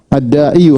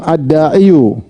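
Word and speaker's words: الداعي: Harusnya di sini ada yu. Ad-da'iyu harusnya ada di sini da'iyu. Tetapi orang Arab susah untuk bilang ad-da'iyu. Jadi ini dianggap tidak ada, tersembunyi. Jadi bacanya tetap ad-da'i.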